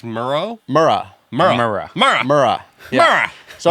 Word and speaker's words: Murrah: were at the Alfred Murrah Building. By the way, in the first 2 episodes, I said the building name wrong. Oh, Would you say? So it's not Murray. it's Murrah.